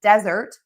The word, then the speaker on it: desert: meal, stress syllable 2, and then desert, sand, stress syllable 1, because sand only has 1 syllable.